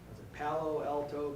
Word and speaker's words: Palo Alto: And by a miraculous answer to prayer, Edward was accepted to treatment to Stanford Medical Center in Palo Alto, California. Is that right? Did I pronounce that right?